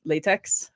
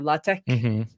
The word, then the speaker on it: LaTeX: computer science department like we all use latex or latch depending on how you say it so you're like